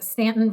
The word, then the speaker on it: Staunton: So my husband in particular has an obsession with Stanton, Virginia. It's spelled Staunton.